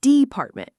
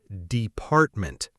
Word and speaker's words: department: Many learners say department, first syllable. But the correct stress is department, the second syllable.